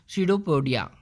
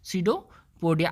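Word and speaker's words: pseudopodia: जिसको हम कहते हैं सीडोपोडिया। यहाँ पे ध्यान देने वाली बात यह है कि स्पेलिंग में पी जो है वो साइलेंट है, ठीक। सीडोपोडिया।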